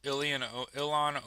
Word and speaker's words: Ilhan: rogue vote to expel Ilhan Omar from Congress. Is it Ian Omar? How do you pronounce her name? Is it Ilhan? Ilhan Omar? Ilhan? It's not Elon, right?